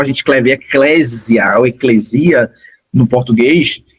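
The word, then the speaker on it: ἐκκλησία: Aí a pronúncia no grego é eclesia mesmo. E aí se a gente fosse transliterar ficaria eclesia por causa da fonética do português.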